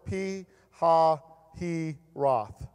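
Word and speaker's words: Pi-hahiroth: and in camp before P ha he Roth that's how you say it real slowly between Meg doll that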